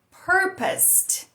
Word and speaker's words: purposed: Esse AD aí vão se transformar num som de T com a IPA, isso fica bem explicadinho, né? Você vê literalmente que no final vai ter um T mostrando essa pronúncia.